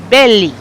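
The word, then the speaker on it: Bellei: or is it belly I keep mistaking how to pronounce his last name it's b-e-l-l-e-i but he said belly yeah Mateo belly um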